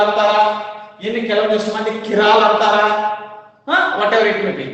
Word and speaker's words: chiral: ಕೆಲವೊಂದಿಷ್ಟು ಮಂದಿ ಅದಕ್ಕೆ ಚಿರಾಲ್ ಅಂತಾರ, ಇನ್ನು ಕೆಲವೊಂದಿಷ್ಟು ಮಂದಿ ಕಿರಾಲ್ ಅಂತಾರ. Whatever it may be, it should be pronounced as chiral.